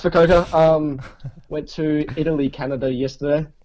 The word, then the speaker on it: Fukuoka: How do you say it? Fukuoka? I thought it was Fukuoka. Fukuoka. That sounds pretty cool, but nah, it's Fukuoka.